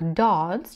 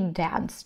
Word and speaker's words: dance: фильмы и танцевать кстати можно произносить как Dance через а также и Dance через э звук под Звёздами под музыку